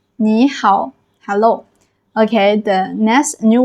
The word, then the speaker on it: 你好: You need to change the first third tone into second tone. That is a rule for you. So, you going to be pronounced as "nǐ hǎo", "hello".